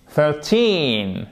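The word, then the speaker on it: thirteen: 13, accent tonique sur le teen, ok?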